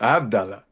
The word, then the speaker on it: Abdullah: Did I pronounce that right? Medina. Yes, sir. Awesome. Abdullah. Yeah, Abdullah, but it's Abdullah.